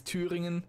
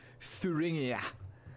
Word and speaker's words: Thüringen: It has a name, it's Thüringen, and I'm not gonna do Thuringia. Because that's silly, okay? That's Thüringen, and you better like it.